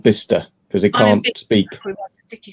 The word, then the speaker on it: Bicester: Which is spelled Bicester, but it's called Bicester because they can't speak.